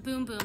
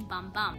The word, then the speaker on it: Bum Bum: off with the infamous boom boom cream fun fact this cream is actually pronounced boom boom instead of the popular pronunciation bum bum it's a fast absorbing